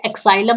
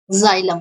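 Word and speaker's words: xylem: ठीक है, ये एक्साइलम नहीं होता, इसको एक्स बोलते हैं कई, जाइलम, इसका एक्स साइलेंट होता है।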